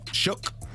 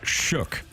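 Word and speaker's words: Shough: Shook. I can't even say his name. Well, I don't know. It looks like show, but I believe I believe it's pronounced shook.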